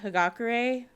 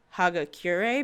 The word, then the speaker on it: Hagakure: brain works sometimes is it breaks it down by syllables first so like hagakure like that's how you say her name but sometimes i will say haga cure because like i said